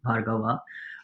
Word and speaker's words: Bhargava: vov with VA my the last a in my surname is silent Bava uh you'll find my